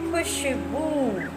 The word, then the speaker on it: खुशबू: देखिए मैंने इस ऊ का कैसे प्रोनाउंस किया, तुरंत किया मैंने खुशबू, लेकिन ब के ऊ को मात्रा लगी है तो मैंने उसे थोड़ा सा प्रेस किया, लंबा दोहराया। खुशबू, पालतू, रूखा।